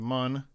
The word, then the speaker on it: Mun: We're not going to the Munge. We're going to the Mun. It's like the moon, but it's spelled differently.